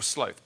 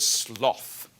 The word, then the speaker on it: sloth: Or sloth, both pronunciations in English are acceptable. I want to bring back the word sloth.